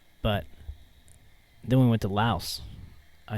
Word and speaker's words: Laos: oh there's no ass I think the S is from the French it's like if you've